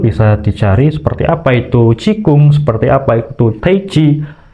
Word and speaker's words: Qigong: Seperti kalau Cina itu tulisannya Qigong, tetapi bacanya Qigong, atau bisa juga menggunakan Tai Chi.